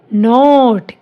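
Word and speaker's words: note: न ओ ट, नोट, ई साइलेंट।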